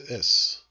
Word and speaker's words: fhios: The word is, meaning knowledge, is actually spelled FHIOS, but you don't, of course, you don't pronounce the FH, so it's just is.